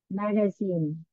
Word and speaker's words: magazine: cũng là âm I magazine Ok magazine cái này không hẳn là E không Không hẳn là a hẳn magazine magazine đọc nhanh thì nó thiên về A nhiều hơn còn trong cái phần